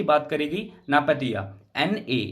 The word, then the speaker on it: Naypyitaw: अगर कैपिटल की बात करेगी नापतिया, NA, ये M लिख दिया मिस्टेक से, ये NAYPYITAW है। इसको अपने हिसाब से प्रोनाउंसिएट करना, मैं प्रोनाउंसिएट कर रहा हूं इसको नापतिया।